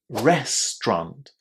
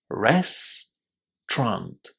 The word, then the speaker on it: restaurant: Restaurant, just two syllables. Restaurant.